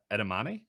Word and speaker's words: edamame: So I'm probably gonna mispronounce it. So feel free to correct me. Edamame.